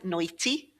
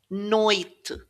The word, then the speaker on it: noite: So you're never really going to say ondi and noiti, and it's not onde either. Ond, noite.